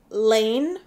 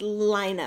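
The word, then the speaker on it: Laine: in what to me looks like Lane magazine but apparently it's pronounced liner magazine so again I apologize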